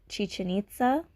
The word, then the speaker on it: Chichen Itza: There is a place in Mexico, and I think it's pronounced Chichen Itza, where the Mayans had made this pyramid shape,